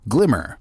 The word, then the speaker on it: GLMR: different blockchains moonbeam's glimmer pronounce glimmer but spelled glmr blows that argument right